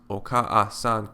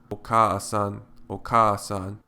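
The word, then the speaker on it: おかあさん: the second a separately in fact if you pronounce okan quickly okan you will find that the second vowel easily merges with the first similarly if you pronounce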